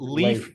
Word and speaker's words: Leif: And why don't you tell me how we pronounce Leif? Babin, because I'm sure you're going to tell me it's different. Leif, Babin. Babin. Leif, okay, Babin.